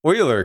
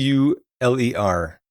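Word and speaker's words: Euler: The uh partial credit for pronouncing uh I almost said it wrong for pronouncing oiler correctly. It's e u l e r. Um that's pronounced oiler, noter.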